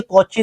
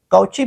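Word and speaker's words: Cauchy: याद रख लो ये कोची ने इसको यूज़ किया था सी ए यू सी एच वाई काउची पढ़ेंगे ना इसको काउची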